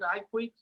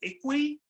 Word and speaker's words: IKOUII: uh with uh i hear people pronouncing it iq i pronounce it equi because i i speak a little bit of